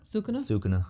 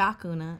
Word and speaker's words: Sukuna: Sukuna. Yeah. I was going to say Sakuna.